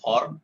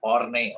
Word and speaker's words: Horne: This Guilford Motors versus Horn or Horney also. Some people pronounce it like this.